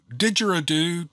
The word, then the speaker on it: didgeridoo: tags and I decided to pull out my de jiridu I think that's how you pronounce that that I had required on one of my many Adventures now did the jury do didgeridoo didgeridoo that's how he said didgeridoo is a